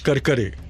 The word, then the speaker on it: Karkare: Now, that was Karkare, Vishnu Karkare. But to a Punjabi, it was, the pronunciation was Karkara because it was very close to Karara. So the Punjabi Madan Lal Pahwa refers to him as Karkara Seth.